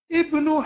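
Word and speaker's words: ابن: Ibnu Hamidin, even though this is Hamzatul Wasl, because it's at the beginning of a sentence, we have no choice but to pronounce it.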